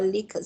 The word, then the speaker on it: Likert: Some call Likert scale, some call Likert scale. Both are correct.